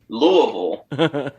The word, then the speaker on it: Louisville: corey i really appreciate that but it is louisville yes moines how do you say st